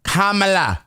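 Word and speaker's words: Kamala: I'm mispronouncing her name. It's Kamela. It's Kamela Harris.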